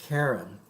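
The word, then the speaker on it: Charon: now we're talking about karen this is a moon of pluto it's about well yeah so it's c-h-a-r-o-n but it's pronounced karen all right and so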